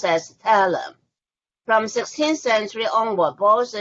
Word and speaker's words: thaler: In the aspect of currency, from 1534, you started to cast silver coins pronounced as thaler.